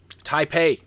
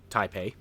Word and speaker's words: Taipei: Oh for heaven's sake I practice the practice the pronunciation before I started here well the problem is that silly you remember back on windows 90 our sorry ow Windows 3.1 the entertainment pack they had that game called called type-a and I always called it a PI so it goes back to my childhood it's ingrained to pronounce it wrong anyway I'm gonna do